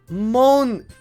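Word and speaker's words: Monika: Monica.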